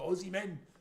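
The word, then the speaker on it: Osimhen: It's either Victor Gawker or the Victor Osman. There you go. Or the Aussie men as he's pronounced.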